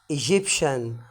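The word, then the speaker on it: Egyptian: برضو عندي التي اي اي والتي اي اي بتنطق برضو شين، زي في كلمه ايه؟ ايجيبشن.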